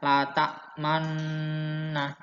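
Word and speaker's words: لا تأمنا: Ingat, bibirnya dimonyongin man. Menarik bibir yang monyong tersebut sambil mengucap nun kedua, la ta'manna, sehingga lengkap menjadi la ta'manna, ya.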